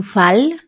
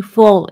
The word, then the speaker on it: fall: siguiente ejemplo to fold no se lee tu fal es tu Fall la a cambia de alguna manera como a una o y significa caer también